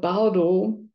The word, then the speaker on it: Bardo: And to, so par means, so it sounds funny the way I'm saying it, because both of these syllables in Tibetan language, which is a tonal language, is a low tone syllable.